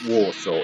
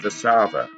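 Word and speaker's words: Warszawa: would say warsaw and i was told it's not warsaw it's the sava and i was like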